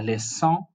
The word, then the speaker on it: leçon: For example, if you say la leçon, not la leçon, because the moment you remove that accent, we go back to the hard S. Hard C, sorry, we go back to the hard C, and it's now pronounced as la leçon, but with the accent, it changes to la leçon, which is a lesson, or ça, which is that.